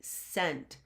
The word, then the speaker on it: cent: if I said that that was a soft C you know soft C's sound like s's hard C's sound like